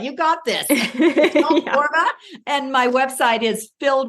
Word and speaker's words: Borba: So I'm Michele Borba, and Borba rhymes with Zorba. You got this. Borba.